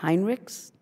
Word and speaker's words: Heinrichs: Do we pronounce the S in the last name, yes, Heinrichs?